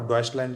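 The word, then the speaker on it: Deutschland: है AFD, alternative for डॉइचलैंड, जो उसका जो रियल प्रोनाउंस ये है।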